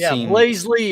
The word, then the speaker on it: Blazely: Yeah, Blazely. That's how you say it, Shane. You're right.